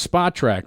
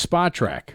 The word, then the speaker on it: Spotrac: automatic confusion going on how to pronounce spot track but it's spa track right so we've been around